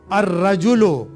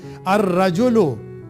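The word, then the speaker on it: الرجل: जैसे रजुल था अर रजुल। अब यहां आप यह भी देखिए लाम यहां साइलेंट है। र के ऊपर लाम नहीं पढ़ा जाएगा। अर रजुल दम बैतुन उस पर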